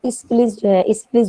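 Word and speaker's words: Aeschylus: इसकी काफ़ी सारी प्रोनाउंसिएशन पाई जाती हैं, लेकिन इसिक्लिस जो है वो इसकी एग्जैक्ट मानी जाती है।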